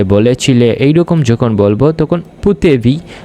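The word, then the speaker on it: potevi: তো ফুতেবি আন্দারে মানে হচ্ছে তুমি যেতে পেরেছিলে, তুমি খেয়েছিলে, দেখেছিলে, শুনেছিলে, বলেছিলে এইরকম যখন বলবো তখন পুতেবি উচ্চারণ করতে হবে।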